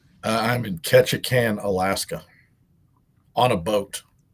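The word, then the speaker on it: Ketchikan: Uh, I'm in Ketchacan, Alaska on a boat. Can you spell that?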